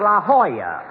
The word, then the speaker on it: La Jolla: auto course a rochester i found out that's pronounced la jolla it turned out to be a spanish word dog don't i should